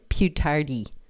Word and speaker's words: più tardi: Più tardi. Più tardi. Più tardi. Emphasize the second syllable.